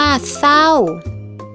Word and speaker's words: เศร้า: สร้อย จริง อ่าน ว่า จริง เศร้า อ่าน ว่า เศร้า ซึ่ง คำ เหล่า นี้ นะ คะ ก็ จะ